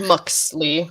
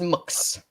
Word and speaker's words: Mux: I think they pronounce it Muxley. It's supposed to be pronounced Mux. Yeah, it's pronounced Mux, like M-U-X.